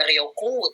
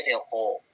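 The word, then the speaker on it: 旅行: ke kata-kata ya Jadi Rio bukan rioku tapi Ryoko u-nya Tuh hilang tapi ada di chip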